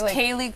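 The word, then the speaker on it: Kaley: Yeah, it's Kaylee Cuoco.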